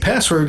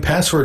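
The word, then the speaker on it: passwd: file and note that etsy password is spelled p-a-s-s-w-d historically encrypted password information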